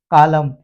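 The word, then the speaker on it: column: am silent हो जाएगा एन ये उल्टा है यहां पर यदि लास्ट में यह चला जाता है तो हम यहां पर एन को साइलेंट कर देंगे आटम और कॉलम यहां पर यदि य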